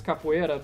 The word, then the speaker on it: capoeira: If I pronounced it in Portuguese, it's capoeira, but like that's Capoeira. basically the difference is the R, the rolled R.